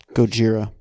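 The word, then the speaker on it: ゴジラ: alright you in Japanese his name is pronounced koji Gojira I know that thank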